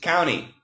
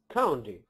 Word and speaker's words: county: I would say County I would say county is the most common with no T and then County County County County well I guess the flap te is probably more common than I would guess